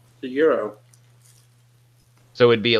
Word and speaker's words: gyro: Greek word okay well does Greek have a silent G then yes well you're saying that very quickly is that very true or do you want it to be true a Greek recipe it's a gyro the gyro so it